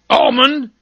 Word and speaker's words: almond: could should would then there's calm balm palm almond salmon calf half salve colonel colonel no sir